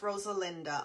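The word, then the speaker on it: Rosalinda: My name is Rosa Linda.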